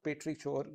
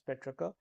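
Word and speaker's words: petrichor: rivald these the words Petra now that's it's not petri chore remember that it's Petra so what is it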